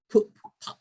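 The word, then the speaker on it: Pupp: Yeah, and there's the Grand Hotel Pup, it's pronounced.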